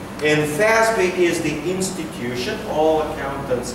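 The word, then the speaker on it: FASB: it's called fin Cal Accounting Standards Board it's pronounced as in English fby and fby is the institution all accountants get together they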